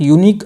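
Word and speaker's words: unique: तो यहाँ पे यूनिक की जो साउंड है, जो प्रोनाउंसिएशन है, ये कॉन्सोनेंट साउंड कर रहा है, तो इस वजह से आर्टिकल जो आएगा यहाँ पे इसका ए करेक्ट हो जाएगा।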